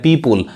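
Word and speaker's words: people: अब इसको पीपल कहेंगे, इसको बहुत लोग पीपुल पढ़ते हैं ना, वो भी गलत पढ़ते हैं, पीपुल। पीपल सही उच्चारण है यार सही में।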